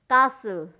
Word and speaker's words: castle: कासल, CASTLE, कासल। यू से biscuit, biscuit नहीं biscuit, you silent word है, silent letter है, तो बिस्किट, BISCUIT, बिस्किट।